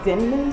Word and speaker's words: Denman: I just got, is it a Denman brush? Is that how you pronounce it?